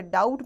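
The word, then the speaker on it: doubt: डाउट में आपका B silent है।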